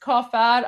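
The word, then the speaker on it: کافر: So, uh, in in Persian it's pronounced kafad.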